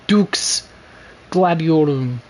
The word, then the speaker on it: Dux Gladiorum: Now, now the way the proper pronunciation of her title would be Dux Gladiorum, but that's in classic Latin.